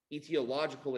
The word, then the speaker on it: etiological: derived from living things these kinds of agents etiological agents that's how you pronounce that word can cause disease or can